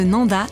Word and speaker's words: Nendaz: dans la région de Nanda et vezona au fait Nanda et Vona ça s'écrit avec un Z à la fin mais on ne le prononce pas c'est comme ça ici c'est la règle je viens d'arriver au